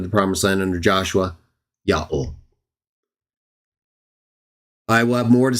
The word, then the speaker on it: Yahweh: pronounced exactly as we see they were likely pronouncing the divine name under Moses as they went into the promised land under Joshua, Yahweh.